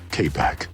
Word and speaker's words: KPC: It is more commonly pronounced KPAC.